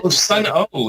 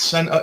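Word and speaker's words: Sunn O))): Sun O. It's Sun O. SUNNO. Yeah, it's dumb. You don't pronounce for some reason you don't pronounce the O, but here we go.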